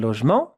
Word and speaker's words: logement: Un logement, check on how to pronounce it. It's not so easy. Logement. La, not lo. La, la, je. Here that sound is j.